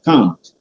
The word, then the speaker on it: Kant: This is taken from the German philosopher Immanuel Kant, K-A-N-T, Immanuel Kant, or Kant in American pronunciation.